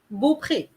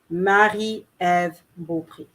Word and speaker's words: Marie-Ève Beaupré: Marie or Mary, Eve, Beaupré. Beaupré. Marie-Ève Beaupré.